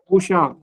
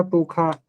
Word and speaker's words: पूषा: पूषा। पूसा। पूषा या पूषा या पूखा, ये उच्चारण होता है। दो, कई पूखा भी पढ़ते हैं, पूषा भी।